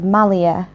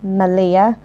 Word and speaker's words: Malia: Now, reading that, you're probably thinking, oh, that says Malia, just like the place in Crete. No, it doesn't. It's pronounced Malia, which is why I'm like, do I put an extra L in there or not?